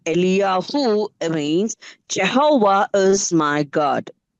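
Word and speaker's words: אֵלִיָּהוּ: And the term Elijah that we say is pronounced as Eliyahu in Hebrew. எலியாகு என்கிறதான அந்த பெயருக்கான பொருள் யெகோவா என் தேவன் என்பதாகும். And the meaning of the name Eliyahu means Jehovah is my God.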